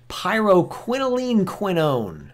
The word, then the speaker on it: pyrroloquinoline quinone: PQQ stands for pyrroloquinoline quinone. There, I did it. Pyrroloquinoline quinone.